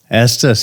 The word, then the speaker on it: Estes: Estes.